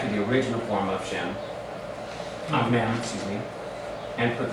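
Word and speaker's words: שם: Shemi.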